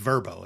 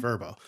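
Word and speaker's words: Vrbo: So, now it's just Verbbo and that's how you pronounce it, Verbbo.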